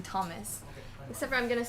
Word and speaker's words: Thomas: t-h-o-m yes right so you don't pronounce it h in thomas except for i'm going to start pronouncing the h and thomas oh here we go thomas game on okay here